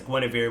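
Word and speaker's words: Guenhwyvar: ultimate is he has gwenevere which you had to tell me that's how to say it because uh it's d back in the 80s or the early 90s so they had to spell it with nine other consonants where i was like i don't know how to say that you're like oh it's gwenevere i'm like why couldn't they just write that um yeah but you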